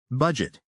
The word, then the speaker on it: budget: Word number 1, budget. Budget. Edvin, can you break it down for us?